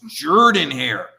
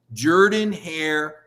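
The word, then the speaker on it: Jordan-Hare: cover auburn you gotta say the stadium name right it's jordan hair i said but it's spelled with a no trust me jordan hair for suge jordan mike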